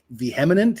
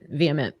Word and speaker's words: vehement: But yeah, no, I mean Emily was very ve vminant. Is that the correct pronunciation? Vheminant. Vement. Vehement. Vehement.